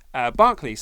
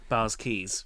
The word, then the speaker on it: Barclays: I said it there mispronounced Barclays Center bars keys yeah all of a